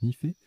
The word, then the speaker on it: nife: NIFE se prononce Nifé. NI pour nickel et FE pour fer.